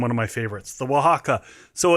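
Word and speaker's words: Oaxaca: because um you can make an oaxa old-fashioned which is amazing and also one of my favorites or sorry a wajaka old-fashioned is is actually the pronunciation.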